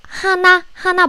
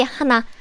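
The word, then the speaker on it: 한: number native korean number hana but we don't say hana we say han what is two in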